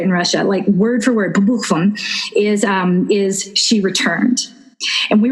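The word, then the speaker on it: по буквам: And the literal translation, pabukvam is how you say it in Russia, word for word, pabukvam is she returned.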